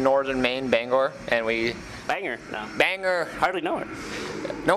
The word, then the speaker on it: Bangor: show up in northern Maine Bangor and we Banger now Banger hardly nowhere no one actually pronounced as it Banger up there when I